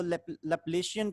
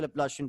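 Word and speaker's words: Laplacian: कई लोग इसको लेप्लेशियन प्रोनाउंस करते हैं, लेकिन मैं इसको लेप्लासियन प्रोनाउंस करता हूँ, ठीक है।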